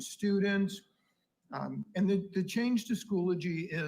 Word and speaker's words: Schoology: Because it is Schoology. Schoology. So I gotcha. You need to pronounce it as Schoology. Schoology. Like a eulogy, but Schoology.